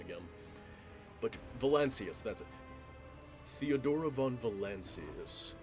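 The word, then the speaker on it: Valancius: I keep wanting to say Volactis, but I know it's val I'm just gonna I'm just gonna say Volactis until I hear the correct pronunciation again. But Valencius, that's it.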